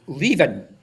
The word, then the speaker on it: Leven: It's Leven. I don't know how you were pronouncing that one, but he gave me a wee reminder. Tell them to Oh, I pronounce remember it him. Leven. Leaving.